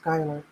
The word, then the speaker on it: Schuyler: My oldest is Schuyler, pronounced Skylar.